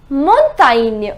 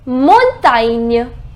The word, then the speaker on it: montagne: La montagne. Now over here we have GN. Montagne.